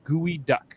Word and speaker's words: geoduck: It's pronounced gooey duck.